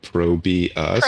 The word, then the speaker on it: ProBUs: A caster said "Pro Moves" by Pro Be Us, and then it clicked. And because it's spelled so stupidly, most casters have just been calling it Probe Us, which we now accept as an alternate pronunciation.